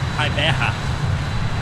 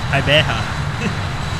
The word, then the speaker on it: Gqeberha: How do you pronounce the name in English? Oh yeah. How am I supposed to say that? Gqeberha. Is that good? Right. Okay. Gqeberha.